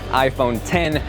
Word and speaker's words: iPhone X: Yo guys, Jonathan here, and this is iPhone 10. Now to clear things up, yes, it is spelled out iPhone X, but the correct pronunciation, just like Final Cut, just like Logic, is iPhone 10, the number.